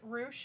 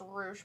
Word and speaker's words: Rush: is like so the wrestler is named rush roosh okay interesting yeah is it yeah it's it's not and it's not pronounced russia's pronounced roosh but yeah it's spelled that way vindicator says